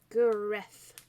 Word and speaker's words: Gareth: Gareth, said Liz, with a hard G. G. Gareth, repeated Lucy.